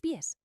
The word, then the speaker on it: pie: Pie en español suena igual que pie en inglés, la tarta.